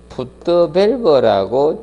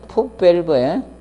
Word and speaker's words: 풋밸브: 이 흡입관이고, 자, 여기를 물이 이렇게 있을 때 이걸 흡입구를 풋드밸브라고 칭합니다. 풋드밸브. 흡입구를 풋드밸브라고 해. 풋드밸브. 흡입구를 풋드밸브라고 칭합니다. 풋드밸브. 원래는 영어 발음상 하면 풋밸브에 풋밸브인데 교수님들은 저 풋드밸브 이렇게 많이 씁니다.